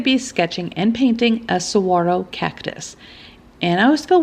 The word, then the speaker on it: saguaro: And I always feel weird when I say saguaro because there's a G in the word. So my mind just thinks you need to say saguaro, but I read that the G is silent.